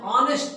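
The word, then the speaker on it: honest: ನೋಡಿ ಹಿ ಇಸ್ ಆನ್ ಆನೆಸ್ಟ್ officer ನೋಡಿ ಇಲ್ಲಿ ಹೆಚ್ಚಿದೆ ಇದು ಸ್ವರಾಕ್ಷರ ಅಲ್ಲ ಆದರೆ ಹೆಚ್ಚಿಲಿ ಸೈಲೆಂಟ್ ಇದು ವ್ಯಂಜನ ಆದರೆ ಇಲ್ಲಿ ಉಚ್ಚಾರಣೆ ಆನೆಸ್ಟ್ ಎಷ್ಟು ಬರ್ತಾ ಇದೆ ಹಿ ಇಸ್ ಆನ್ ಆನೆಸ್ಟ್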